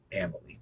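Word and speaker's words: Amalie: Molly is it amily come to find out it's Amal uh the friend that picked us up he confirmed it also Googled it just to kind of double confirm and one of the best ways I notice it it's like family rhymes with family Amal yeah okay that's a good way of remembering it Emily Arena I think it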